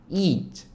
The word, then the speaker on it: eat: 뒤에 있는 T 발음 살짝만 해주시면 돼요. 먹다 eat.